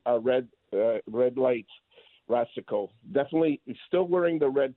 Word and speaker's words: Racicot: Anyway, I I just want to say that Rasico, okay, the way he pronounces his name, it's R A C I C O T. It's not Rosco.